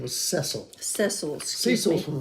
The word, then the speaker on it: Cecil: His name was Cecil.